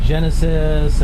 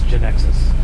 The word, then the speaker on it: Genexus: Yeah, I've heard somebody say Genesis, and people call it all kinds of different things, but the proper way to say it is Genexus.